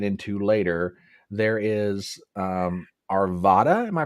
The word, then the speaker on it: Arvada: which we'll get into later there is um Arvada am I pronouncing that correctly Arvada Arvada Okay Arvada so tell us about Arvada Colorado so Arvada Colorado I've actually I've lived in Arvada Colorado since 2010.